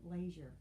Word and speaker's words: leisure: and so it is l e i s u r e leisure there are some places where they do pronounce it laser okay but we don't